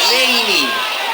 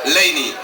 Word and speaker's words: Leini: loro hanno ragione perché fino ad alcuni mesi fa c'era scritto e si diceva Lini Dopodiché il Ministero dell'Interno ci ha chiesto di togliere un accento ma su Facebook c'è un gruppo di persone che continua a chiedere len con l'accento e siete voi Dopodiché